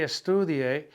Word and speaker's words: estudie: really good at this, when I say estudie, you can tell just by hearing that the U is the vowel of all the vowels.